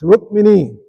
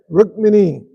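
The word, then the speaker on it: Rukmini: We mis we mispronounced her name. It's not Rrookmini. She's not a meanie. It's Rrookmini. Everybody say Rrookmini.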